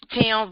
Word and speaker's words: Thames: It's Tim, but everybody said Thames the way it's spelled.